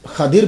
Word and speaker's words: खिदर: मेरी मुलाकात हजरत खिदर अलैहिस्सलाम से हो गई। खिदर अलैहिस्सलाम से मेरी, ये खदिर भी है, इसका प्रोनाउंसिएशन खदिर भी है, लेकिन खिदर अलैहिस्सलाम भी लिखा हुआ।